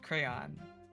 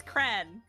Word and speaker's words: crayon: I need someone to back me up that it is one syllable. When everyone else is like, "No, it's crayon." You're then like that doesn't mean anything. I don't have time for two syllables. It's cran.